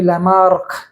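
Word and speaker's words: Lamarck: and Gene bapti Lamar Lamar is not M K it is m c so the pronunciation should be Lamar Lamar gave theory of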